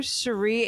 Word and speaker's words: Sherri: rmes with Capri because my first name Sheree rhymes with Capri um you can also